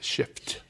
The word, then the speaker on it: shift: It has an F in it, shift. Yes. I always tell my listeners that they find that funny because it sounds like I'm saying, yeah, you have to pronounce the F strong.